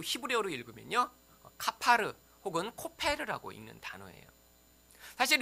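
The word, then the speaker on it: כָּפַר: 또한 바르다라고 하는 맨 끝에 역청을 바르다, 이 바르다라고 하는 이 단어도 원래 또 히브리어로 읽으면요, 카파르 혹은 코페르라고 읽는 단어예요.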